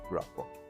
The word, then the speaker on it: Grapa: You told me to pronounce the name that way, Grapa.